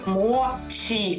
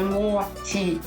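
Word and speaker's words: もち: перекладачі викладачі японської мови мочій а не Моті тому що в українські після м'яких ми в своїх словах власне вільно вимовляємо це японістка Марія куріна пояснила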